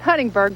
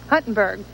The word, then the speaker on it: Huntingburg: in the night and that was Huntingburg not Huntingburg but Huntingburg at the end of